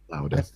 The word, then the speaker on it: Lauda: How would you pronounce that? Lauda.